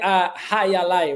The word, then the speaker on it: jai alai: It's a Jai Alai League. Oh yeah. Did I say that right? Yeah. I don't even know how to pronounce the word, to be honest. We call it hayalai, right?